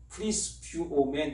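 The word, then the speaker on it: πρεσβεύομεν: 이건 좀 중요하기 때문에 원어 말씀을 좀 말씀을 드리면, 사신이라는 말이 프리스뷰오멘 이렇게 발음합니다. 프리스뷰오멘 이렇게 읽는데, 이 말이 무슨 의미냐면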